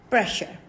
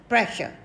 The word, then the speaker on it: pressure: allotted to sound sure and r is silent here okay and we pronounce this word pressure pressure then we have proper